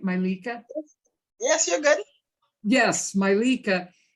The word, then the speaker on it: Mylica: my lika and am i saying it right malika yes you're good yes milika and what's your